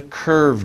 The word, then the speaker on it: curved: Remember the V sound right in the middle. V. And you make a little vibration with your throat.